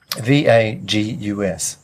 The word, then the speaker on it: vagus: of the nervous system v-a-g-u-s yeah pronounced vagus nerve okay yeah really interesting